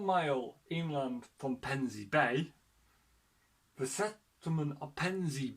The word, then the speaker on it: Pevensey: It's pronounced as Pevensey. Pevensey. Pansies?